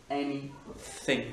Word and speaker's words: anything: Something, c'est la première syllabe qui est accentuée, something, donc ça fait vraiment something ou anything, anything, c'est bien un th qui est non collé, something, anything.